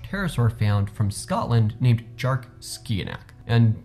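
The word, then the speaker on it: Dearc sgiathanach: found from scotland named jark skianak and the name is in traditional scottish gaelic which is why it looks like it's not spelled the way it's pronounced and that actually makes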